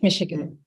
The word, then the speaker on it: Michigan: She has been certified in public speaking and effective writing skills from University of I don't know how to pronounce it, but Michigan. It's Michigan.